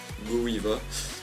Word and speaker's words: GoWiVa: Donc nous allons passer tout de suite à la technique d'attaque que j'utilise très fréquemment, donc c'est le Govawi, plus particulièrement prononcé Gowiva. Moi je dis Govawi, c'est plus rapide.